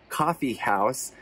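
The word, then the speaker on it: Kaffeehaus: our favorite restaurants was a place called coffee house they spell it k-a-f-f-e-e-h-a-u-s we went there for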